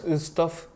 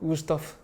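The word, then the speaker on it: Wüsthof: 다시요? 우스토프. 발음을 똑바로 해주셔야 자막을 넣죠. 우스토프. 우스토프? 우스토프. 독일어로 넣으라고.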